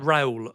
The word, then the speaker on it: Raul: How do I pronounce this guy's name? Raul. Oh, it's like Raul.